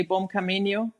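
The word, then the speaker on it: bom caminho: Uh, in Spain you say buen Camino and when you're in Portugal you have to say bomb camino.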